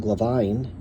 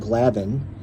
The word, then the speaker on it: Glavine: And Tom Glavine or I guess it's Tom Glavin. One of my subscribers corrected me. So Tom Glavin, I always want to say it phonetically, Gline, but it's Glavin apparently.